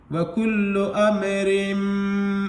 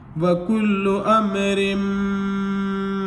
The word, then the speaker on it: وَكُلُّ أَمْرٍ: زیر رن وکل امرن، لیکن ادغام کا قاعدہ ہے کہ اگر میم مشدد آ جائے را سے پہلے تو کس طریقے سے ملائیں گے اس کو، را میم دو زیر رم، تشدید والے حرف میں ایسے ملا دیں گے، وَكُلُّ أَمْرٍ میم سین